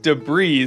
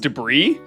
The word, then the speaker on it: debris: And isn't debris so nice this morning on year 1000. Hello. Hello. Wait, it's pronounced debris.